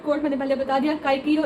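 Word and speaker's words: Cicero: और tattered coat मैंने पहले बता दिया, काइकीरो इंस्टेड ऑफ साइसीरो। इसका मतलब ये है कि रॉल्स्टन कहता था कि प्रोनाउंसिएशन चेंज करो, तो चिप्स कहता था कि बहुत अजीब लगेगा कि हम साइसीरो को बुलाएंगे काइकीरो और किस से बुलाएंगे, विसिज्म से, ठीक है।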